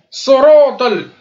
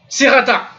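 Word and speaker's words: الصراط: Et ensuite, sorotol. Tout ça, c'est emphatique. Soroto, soroto. Je répète, soroto. C'est pas sirata.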